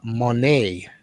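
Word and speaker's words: Moné: retain the title Mercedes Monet no uh Monet is how she wants to pronounce I've heard so she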